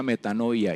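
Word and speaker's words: μετάνοια: arrepentimiento viene de una voz griega que se pronuncia meta novia y es un cambio como hemos dicho de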